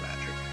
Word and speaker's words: magi: Because, as these people believe, magic isn't a thing. The ancients once wielded a force known as magic. People who mastered the art were called magi, or magi. Either way, it's a regional pronunciation thing.